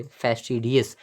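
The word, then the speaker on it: fastidious: तो इसको हम और यहाँ वाला जो फास्ट है इसको आप फास्ट पढ़ोगे, फैस्टिडियस।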